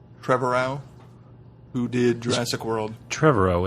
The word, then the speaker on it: Trevorrow: Trevorrow, who did Jurassic World.